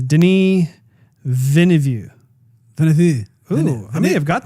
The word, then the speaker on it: Denis Villeneuve: I'm going to say it wrong again, but I think it's Denis Villeneuve. Ooh, I may have got that right. Villeneuve.